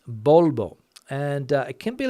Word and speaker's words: Volvo: and that's one word Volvo with two v's bolbo and it can be